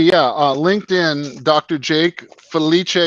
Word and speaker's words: Felice: Jake Feliche is the Italian pronunciation.